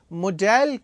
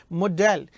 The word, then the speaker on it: modal: उन तमाम ऑिलरी वर्ब को मॉडेल कहा जाता है। मॉडल नहीं कहना है। मॉडेल। इसका रियल प्रोनाउंसिएशन है मॉडेल।